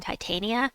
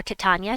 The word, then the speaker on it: Titania: to want here is queen titania or catania depending on how you like to pronounce it she does damage to